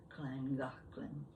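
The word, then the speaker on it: Llangollen: might be from wales i'd know the correct pronunciation of kleingocklen oh it's and the other thing you know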